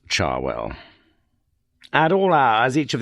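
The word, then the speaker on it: Cherwell: main Bambry Road and the River Charwell, pronounced by most of the locals, Charwell.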